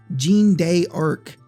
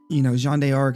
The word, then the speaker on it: Jeanne d'Arc: Yes, I did the fancy pronunciation. Jeanne d'Arc, which was one of my favorite tactics games on the PSP.